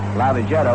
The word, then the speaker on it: Lavagetto: Before the ball game, we were talking to Cookie about pronunciation, about the pronunciation of his name, saying that we call it Lavagetto, which he calls it, and then we hear from all sorts of people who say you ought to call it Lavagetto.